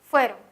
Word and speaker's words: fuera: sílaba la palabra fuera fuera tiene el acento en la penúltima sílaba voy a escribir aquí